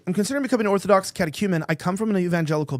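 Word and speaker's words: catechumen: Anyway, he also said, "I'm considering becoming an Orthodox Katakuman."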